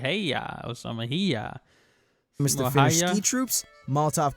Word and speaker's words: Simo Häyhä: Simo Häyhä, that's how you say his name. I think the video said Häyhä or something. Häyhä.